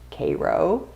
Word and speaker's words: Cairo: in cairo new york spelled cairo pronounced cairo it was the first